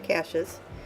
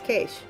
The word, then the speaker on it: cache: So I always thought it was cache. Apparently it's cache.